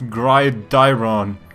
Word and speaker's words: Gridiron: It's not Grydon, it's Grydiron.